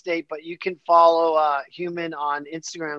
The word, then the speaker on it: Hu3m3n: It's called Human, but of course you gotta spell it weird. So it's like H-U-E, like hue as in color, color, men like plural, but of course the E's are threes. So it's H-U-3-M-3-N.